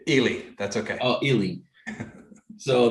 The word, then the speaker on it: Ely: Am I pronouncing your last name correct? Ely, that's okay.